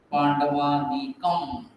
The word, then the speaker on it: पाण्डवानीकम्: तो गाते वक्त आप ध्यान दीजिए, यहाँ पर अनुस्वार है तो जनरली उसका म जैसा उच्चारण होता है। पांडवानीकम म नहीं दिख रहा, लेकिन अनुस्वार का उच्चारण म जैसा।